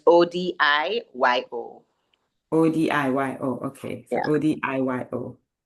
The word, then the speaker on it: Odiyo: It's spelled Odiyo.